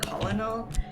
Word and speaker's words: colonel: We put the L in there, but we still made it be like colonel.